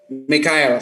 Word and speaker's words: Michelle: Michelle bacanya Michelle kah Mikael? Mikael.